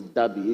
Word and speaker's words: Deby: His Deby is spelled D-E-B-Y. There's no R. There's no R in his Deby. It's Deby, D-E-B-Y.